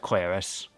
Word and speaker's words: Claris: least I've confirmed that Claris's name is pronounced Claris.